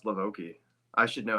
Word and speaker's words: LaVoki: So, pronounced LaVoki.